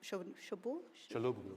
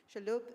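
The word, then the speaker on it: Chalhoub: a company like Shabu Shaloo Shaloo sorry I pronounced it wrong shaloop they would be probably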